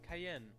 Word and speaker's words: Cayenne: Oh God oh I'm Cayenne and I'm here to work for mr. Romano is that good enough that's definitely gonna be you say your name is Cayenne yes it's pronounced like the pepper I don't see that